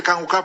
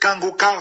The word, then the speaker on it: Kanguka: j'informe de nouveau que Kangoka passe aussi sur YouTube.